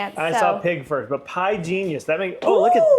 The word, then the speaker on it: Pigenius: Uh, penis. Pig. Oh, pi genius. Oh my goodness. Could I actually speak? Pie genius. Yeah, pi genius.